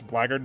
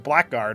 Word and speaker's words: blackguard: Level six blard doesn't sound very epic. Well, if it was pronounced blackguard, it probably would sound pretty epic. Level six blackguard, but that's not not how you pronounce it.